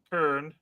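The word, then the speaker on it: Köln: Just like there's no L in Kern.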